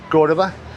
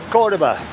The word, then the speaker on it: Córdoba: Plus, I've been learning how to say the name of the city correctly. I've been saying it wrong, I think. So, Cordoba. I have spoken to Argentinians in the hostel, and they said, yeah, that's the English way of saying it, but it's correct.